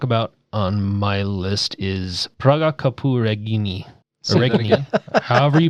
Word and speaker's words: Praga Caput Regni: All right, the last one I want to talk about on my list is Praga Capu Regni. However you pronounce that. Praga Caput Regni.